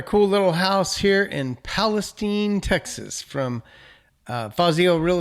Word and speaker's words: Palestine: Let's jump over to the artificial intelligence which tells us Palestine is pronounced Palestine.